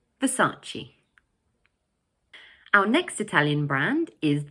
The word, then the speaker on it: Versace: But in English we pronounce it 'Versace'. Notice that the word has three syllables and the middle one is stressed. So we say Versace.